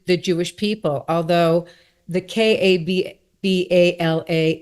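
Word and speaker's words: Kabbalah: because cababala in mysticism, sorry I pronounced it wrong. It's kabala. Well, in Hebrew there's a there accent is on the last syllable just like to kabala. But of course we're in America so we say kabala.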